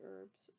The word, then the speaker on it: herb: Americans say herbs, not herbs.